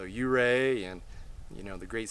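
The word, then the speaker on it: Ouray: colorado oh yeah we got to see ooray or excuse me uray learn the right way to pronounce it so you ray and you know the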